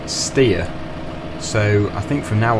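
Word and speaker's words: Steyr: Uh, that brings me on to the next thing, which is the pronunciation of well, I was calling it ster. Um, apparently it's pronounced steer.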